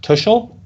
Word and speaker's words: Tuschl: um is your name your last name pronounced tushel yeah yeah absolutely that's shocking that you